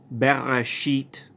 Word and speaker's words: Bereshith: right here is Genesis or as a lot of Jews would say about a sheet or the way it probably originally would have been pronounced bat bat a sheath it has a th at the end and you roll the are rather than you know it's it's um it's a semitic sort of thing it's it's semitic it's